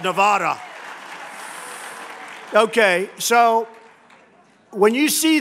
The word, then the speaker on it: Nevada: And they don't know how to say Nevada. They don't know how to say it. She called it Nevada.